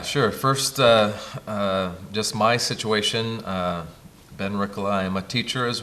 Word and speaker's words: Ben Rikkola: And with me is Ben Rikkola.